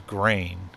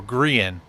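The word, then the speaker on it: Grian: to say it was grain or grean is actually how you pronounce I've been saying grain I'm sorry you're not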